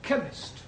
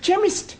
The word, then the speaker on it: chemist: oh yes please spell chemist Oh blimey does not begin with a cake it sounds like it begins with K see H that is making it chemist well the CH is